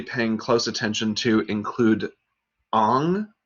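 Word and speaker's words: Ingres: close attention to include ong ing res is properly pronounced on an american artist who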